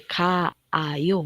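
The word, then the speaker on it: 가요: O sea, no hay dos, no se dice K-A-I-O, no. Se dice Kaio, ¿cierto?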